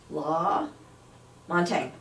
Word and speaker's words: LaMontagne: I know he's wanting to know if I can pronounce his last name. Okay, in studio I have Chris LaMontagne.